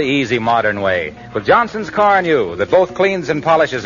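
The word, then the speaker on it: Carnu: By the way, Johnson's Car New is spelled C-A-R-N-U.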